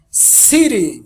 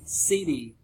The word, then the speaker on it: city: City. City. Dando aquele tapa. Rápido. Isso, o tapinha.